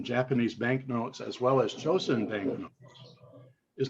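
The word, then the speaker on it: Chōsen: the bank's name was changed to bank of chosen the japanese pronunciation which issued its first notes the one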